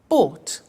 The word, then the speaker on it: bought: pronunciation by bought you notice that o-u-g-h-t is pronounced by bought come came do did drink drank eat ate